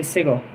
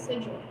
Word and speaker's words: sigil: All right, there's a sigle. Watch. See? Oh, they're different. Why is this sigle different from this sigle? Why do you say it like that? It's sigil.